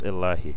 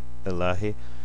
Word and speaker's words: Ilahi: It's Ilahi, Ilahi, which is exactly what the Muslims or Arabs say.